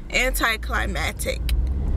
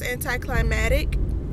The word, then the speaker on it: anticlimactic: worded down and demure and uh it's just anti-climactic is that the right word is that how you pronounce anti-climatic dick no anticlimactic okay i am starting a